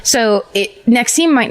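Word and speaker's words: NXIVM: Nexim. That's what that's how you pronounce it. Nexim. Oh, that's the branding one. That's right. So it Nexim might not sound familiar, but it's NX VM.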